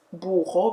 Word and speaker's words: burro: In Portuguese, burro, because it has double R, you pronounce it as an H.